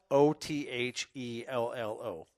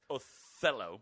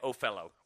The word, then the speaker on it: Othello: is being blown really so it's spelt oth e ll Oh Othello Othello is how it is best but I say it Oh fellow why I don't know